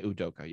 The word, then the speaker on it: Udoka: when um the coaches it's imei adoka i want to pronounce it right it's udoka yeah okay when he's you